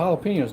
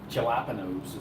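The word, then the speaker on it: jalapeños: Like, thanks for the jalapenos, David. Galilapenos is some people call them. If you're a white person, don't know how to say it.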